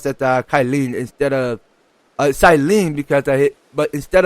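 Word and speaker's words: Cyllene: so you know what i think i missed it on the word cylene not kyleen oh forgive me on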